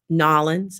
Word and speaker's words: New Orleans: I'm trying to get, if you guys know that I travel, and I went to New Orleans and Nolans, that's how you say it.